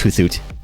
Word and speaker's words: Hoothoot: It's pronounced Hoothoot.